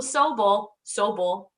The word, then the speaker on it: Sobel: You get Sobel, right? That's the Jewish pronunciation.